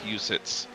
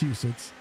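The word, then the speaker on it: Huset's: that I was told how the track is pronounced. It's called Husids. Well, either way, Husids Hussets, you know, there's no it's not two sides, but it's Husids.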